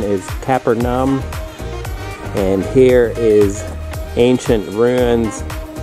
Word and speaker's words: Capernaum: want to talk down there more the correct pronunciation is kaepernum and here is ancient ruins all stone carvings